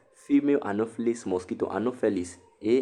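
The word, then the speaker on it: Anopheles: malaria under the vector right female anophilles mosquito anoplis a n o p h e l e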